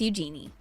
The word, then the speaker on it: Eugenie: She said in her interview with The Telegraph in 2008, the easiest way to remember it is how it sounds like you're saying the phrase, use your knee.